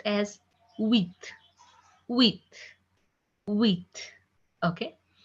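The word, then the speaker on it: huit: 8 will be pronounced as wheat.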